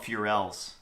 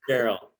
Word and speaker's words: ferrule: I think I always call them Furels. I call it ferrule. It's ferrule. Yeah, it's Ferrel.